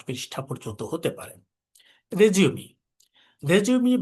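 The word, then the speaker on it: résumé: রেজিউমি এটা একটা ফরাসি শব্দ, রেজিউমি। সেখানে এর উপরে, রেজিউমে RESUME, এর উপরে অ্যাকসেন্ট থাকে, একটি বা দুটি, দুটি অ্যাকসেন্ট থাকে সাধারণত। এই, এটি উচ্চারণের জন্য ব্যবহৃত হয়।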